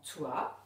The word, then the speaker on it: toi: Alors dans toi, on entend t et oua.